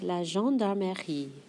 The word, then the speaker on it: gendarmerie: avec la gendarmerie. Voici la...gen...dar...merie. La gendarmerie. Eh, this one's a little more "meuh" than I pronounced initially.